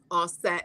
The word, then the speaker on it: Aset: use those terms, but the Medu Neter clearly has it written to pronounce it as Asar, Aset, and Haru.